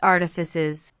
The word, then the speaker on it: Artifices: It's pronounced artifices, but, to be fair to myself, I knew that.